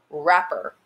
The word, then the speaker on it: wrapper: that you can't hear wrapper once again a w that's paired with an r but you can't hear the w and then again this